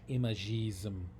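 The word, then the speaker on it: Imagisme: which was called Imagism, or in French, Imagism, just the same word with an E on the end and pronounced differently.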